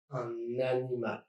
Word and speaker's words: un animal: Article plus noun, like un animal, dragging the end of un to the beginning of animal, un animal.